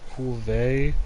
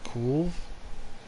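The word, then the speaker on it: Kulve: And I'm like, do you understand that there's no accent over the E, therefore Coolvey, as you're pronouncing it, does not exist? The proper pronunciation would be Cool, kind of like curve.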